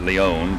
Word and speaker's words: Leone: were I mean they on leonin there he pronounces it Leone but it's going to be the only as